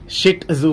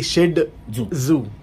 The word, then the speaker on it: Shih Tzu: Actually ट जो है ना ट, इट्स नॉट द ट साउंड. मैं पढ़ रहा था अभी आपसे, आप जब ग्रूमिंग कर रहे थे ट इज प्रोनाउंसड ड. सो it's basically शिड ज़ू so with a D sound, but spell जब करते हैं तो टी, टी फॉर टैंगो लिखते हैं.